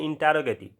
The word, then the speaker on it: interrogative: spelling भी होता है आई एन टी E double R ओ जी ए टीई इसको पढ़ते हैं इंटेरोगेटिव ठीक है इस पर